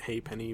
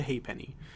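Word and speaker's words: ha'penny: so it's like the it's like a weird way of saying a half penny they pronounce it hey Penny because they're British I guess I don't know they call it hey Penny but it's not made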